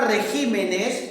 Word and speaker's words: regímenes: ¿Dónde está la mayor fuerza de voz? Está en la sílaba ji, ¿no es cierto? Regímenes, por eso es una palabra esdrújula, ¿no?